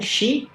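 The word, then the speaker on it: 四: É porque a pronúncia do número 4 é semelhante à pronúncia que eles usam para falar a morte. É shi ou ion, né? Ichi, ni, san, shi. Ou eles falam shi ou eles falam ion, pro número 4.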